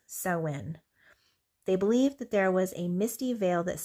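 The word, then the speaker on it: Samhain: The ancient Kelts used to call the time of the longest night of the year saw. Uh they believe or Sam Hayne is how it's spelled, but it's sin.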